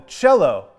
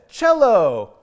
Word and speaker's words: cello: about is called the cello and no i didn't say jello i said cello now cello is spelled a little bit differently than it sounds so let's spell it